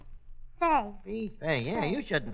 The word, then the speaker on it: Santa Fe: You see, the A is pronounced like an E on account of that little French aperitif on top. What we United States citizens call an apostrophe. Fee. Fay.